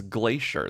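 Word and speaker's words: Glaisher: obsessed with weather and his last name was Glacier but it's spelled g l a i s h e r okay it's like phonetically Glacier he invented the dupoint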